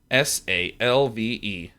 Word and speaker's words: salve: You guys don't know how words are pronounced. Look, Merriam-Webster Dictionary app, ship it, search S-A-L-V-E.